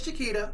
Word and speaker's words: Chiquita: So I always have told people that if you want to know how to pronounce my name, it is Chiquita, just like the banana, like the beer.